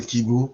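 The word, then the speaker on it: 希望: So KBO um is an American pronunciation of the word kibu which means hope in Japanese.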